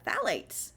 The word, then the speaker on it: phthalates: it's been a while so go ahead and spell it for you it's p h t h a l a t e s phthalates um and again these can be endocrine